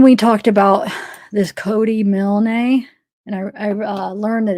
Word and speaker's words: Milne: All right, so remember when we talked about this Cody Milne? And I learned that it's pronounced Milne, not Milne, because I called the towing company to try to get some information.